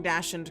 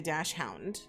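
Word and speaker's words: dachshund: confirm for me that I am actually pronouncing Dash anded correctly because a lot of people just say dashound right oh yeah no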